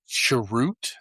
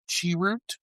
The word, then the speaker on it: Chirrut: And I like that he had So, his character's name is Chirrut, I believe it's how it's pronounced. Chirrut.